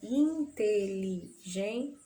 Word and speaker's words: inteligente: Inteligente, né? Essa primeira parte aí. Da sílaba tônica dessa palavra, inteligente. Então, gen é a sílaba mais forte da palavra inteligente.